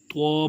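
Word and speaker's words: طاء: ہے اسے اکثر بچے توئیں بھی پڑھتے ہیں۔ یہ توئیں جو ہے یہ اردو لینگویج میں زبان میں پڑھا جاتا ہے اسے، اور عربی میں توا پڑھا جاتا ہے۔ توا کے ساتھ جب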